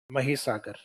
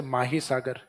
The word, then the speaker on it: महीसागर: माही सागर। Spelling तो हालांकि देख के एक बार तो यूं ही लगेगा जैसे माही सागर। तो माही नहीं इसको क्या बोला गया है? महीसागर। तो दूसरा है महीसागर।